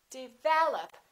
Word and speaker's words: develop: Develop. Second syllable is stressed. This is reduced. This is reduced. Develop.